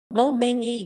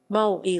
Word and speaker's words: Moe: Mo slang, mo-e Japanese pronunciation, mo-e listen, sometimes romanized as mo, is a Japanese word